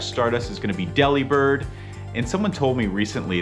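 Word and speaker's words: Delibird: And then December 30th for two times catch Stardust is going to be Deli Bird. And someone told me recently that the pronunciation is delivered because it delivers gifts.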